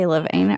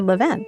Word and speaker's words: Levain: Diana Christie I'm just supposed to say lavane or should I lane or leven lan leavenven we say lan right so the French is le the okay so